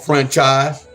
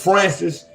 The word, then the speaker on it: Francis: So, I was pronouncing I I was pronouncing your name wrong, Franchise. I just heard him call you Okay, I just heard School call him Francis. Then I heard him say Franchise. It's Francis.